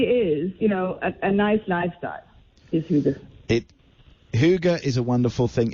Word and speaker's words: Hygge: Just explain, and I'm going to pronounce this wrong, Hygge? Hygge.